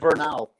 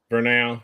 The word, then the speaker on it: Vernal: I still can't pronounce it. Utah, where I believe it's Vernal. Vernal, yeah.